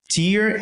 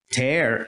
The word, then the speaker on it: tear: É a mesma palavra, mas a pronúncia muda. Tear é lágrima, tear é rasgar.